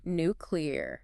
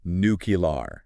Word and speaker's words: nuclear: okay bring it on nuclear nuclear now I've definitely heard people say nucar yeah that's a pretty common pronunciation especially in certain parts